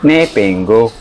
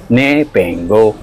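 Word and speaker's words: Bipenggou: po tayo sa bus papuntang Nepengo. Yun daw po ang tamang pag-pronounce ng lugar na yon. ni pengo.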